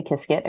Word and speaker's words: Qiskit: Some people call it Qiskit, but I say Qiskit. It rhymes with biscuit.